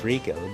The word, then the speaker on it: Rachel: And you might be wondering why I often pronounce his name as Rakel, because if you use Ramley, or if you